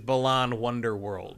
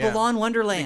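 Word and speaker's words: Balan Wonderworld: Well, almost because they said everyone gets the name wrong. Because it is Balan Wonder World. Yes, Not Wonderland. I do the same thing. I call it Balan Wonderland because Wonderland is just a more natural word to say because of Alice in Wonderland.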